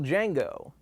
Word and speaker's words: Django: cameo from the original django what's your name django can you spell it d j a n g o the d is silent i know seriously look